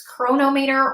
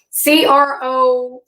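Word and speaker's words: Cronometer: I use Chronometer or Chronometer. I'm not really sure how you're supposed to pronounce it, but it's Chronometer.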